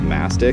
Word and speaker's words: mastic: These black dots are beads of this stuff called mastic. It rhymes with plastic, so I'm gonna pretend that that's what it is.